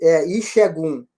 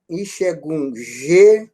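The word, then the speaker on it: Ìṣẹ́gun: Não esqueça que o S, esse S é aquele S que substitui na pronúncia X, então ele é sublinhado, ele é sinalizado embaixo dele. Ixegum, acento agudo no E, Ixegum.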